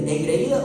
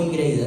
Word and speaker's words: engreída: Engreída o ingreída, ¿cómo se dice? Engraída. Engreída.